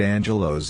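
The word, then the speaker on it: ἄγγελος: term angel derives from the mycenean greek term a glows pronounced angelos and it means a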